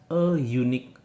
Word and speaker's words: unique: tapi ini adalah a unique opportunity. Sekali lagi, meskipun depannya adalah huruf hidup, tapi membacanya pakai suara yeh, unique. Maka dari itu, yeh itu adalah bunyi huruf mati.